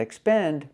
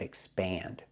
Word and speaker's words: expand: to expand your vocabulary not expand but expand the vowel is more open this is also not